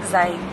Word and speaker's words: Zayed: Is that how you pronounce it? Yeah. Sheikh Zayed Mosque.